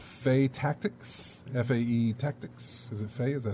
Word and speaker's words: Fae Tactics: um this is a game called faye tactics fae tactics is it faye is that how you pronounce that yeah fay tactics it's the main theme for that we're gonna